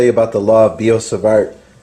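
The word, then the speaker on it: Biot–Savart: about the law of biot-savart I don't think you pronounce the T actually it's the law of biot-savart or the magnetic field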